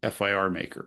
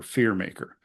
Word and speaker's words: FIR Maker: Then inside of Focus, there's also a tool called AFMG FIR Maker, or Fear Maker, or Fur Maker. We see it pronounced a few different ways.